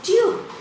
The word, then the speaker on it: tube: Now here, tub, tub becomes tube.